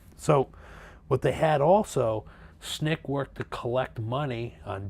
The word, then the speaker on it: SNCC: Student Nonviolent Coordinating Committee known as snick SNCC that's how you pronounce its Nick facilitated sit-ins throughout the